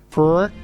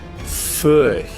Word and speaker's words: Furch: Hello, we're at 42 Gear Street here, Steve Cassidy guitar, and we're looking at some Furch. Furch.